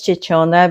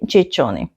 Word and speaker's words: Ciccone: Um I actually read it as Chichona because that's the standard Italian pronunciation. She says the Chichony.